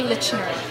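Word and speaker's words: Liczner: It's actually Lichner. It's Polish, and the CZ is a ch sound.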